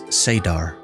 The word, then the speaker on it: saidar: female half of the true source is called saidar which is sometimes pronounced as sadar only women can access and use saidar the